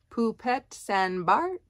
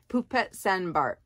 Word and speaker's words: Poupette St Barth: can see it here pupet San Bart um it looks like poupette St Barth but in the French pronunciation I suppose poop pet Sandbar we'll call it it's a size medium